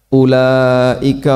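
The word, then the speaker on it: أولئك: Ulaika humul muflihun. Ulaika itu kan u-nya dibaca pendek. Kadang ada sebagian orang yang bacanya panjang. Ulaika humul muflihun. Ini keliru, tapi insya Allah tidak sampai mengubah makna.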